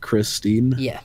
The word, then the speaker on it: X-Teen: Oh yeah, like it's pronounced Christine, but it's written X-Teen. It's like, apparently, I'm pretty sure they explained it themselves. It's kind of like how Xmas is, like you'd say Christmas.